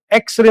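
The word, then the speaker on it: X-ray: पड़ेगा ना, एन एक्स, क्योंकि एक्स का प्रोनाउंसिएशन कहां से शुरू हो रहा है? एक्स।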